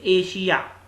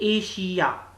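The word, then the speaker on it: Asia: जैसे एशिया, तो S के बाद IA आ रहा है तो एशिया, ठीक है। तो यहां पर इसको हम श बुलाएंगे, एशिया।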